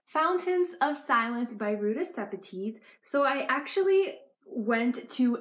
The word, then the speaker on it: Sepetys: Sepetys, she actually said her name is Sepetys.